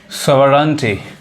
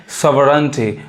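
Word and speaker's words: sovereignty: next word सीखेंगे 19 सेंटी अब इसको भी बहुत लोग गलत पढ़ते हैं ये इसका असल उच्चारण क्या है सोरेंटी इसको लोग गलत क्या पढ़ते हैं सोटी करते हैं पढ़ाया क्या ये स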